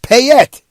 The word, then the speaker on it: Payette: All right, Linda is very patient, and she wrote Payette, Pay-ETT. The last E is not pronounced.